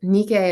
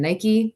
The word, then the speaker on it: Nike: Nikkei adjusting her sandal I know we're more used to saying that in the American pronunciation Nike because they adopted the name of this Greek goddess of victory for a line of athletic shoes but Nikkei is a victory figure and she's winged so